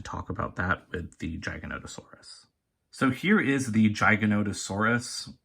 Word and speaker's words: Giganotosaurus: disappointing first of all in the movie everyone calls it a giganotosaurus i have heard that pronunciation but i believe it's incorrect because i checked my pronunciation before i was like making videos back in april and i'm pretty sure it's supposed to be giganotosaurus it could be like